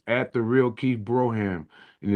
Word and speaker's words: Brougham: at the real Keith Broham and it's it's it's it's pronounced Broham, but it's spelled B R O U G H A M.